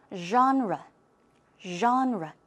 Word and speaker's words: genre: also ask which genres do you like the pronunciation we did this long long time ago but just in case one more genre genre it's just just sound genre or genres so